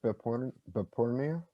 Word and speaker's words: Behpoornia: using my actual name is the last name pronounced bipolar but porno absolutely okay i wasn't sure yeah i i